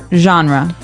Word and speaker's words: genre: It looks like it should be pronounced differently. We say genre.